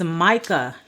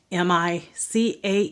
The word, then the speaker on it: Micah: well that swallowed Jonah the next book is Micah m i c ah H Micah the next book of the Bible